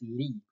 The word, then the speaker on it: Li: December run is 12241 Lee which means Hillside and not the LIE Norwegian pron pronunciation is Lee he is bred by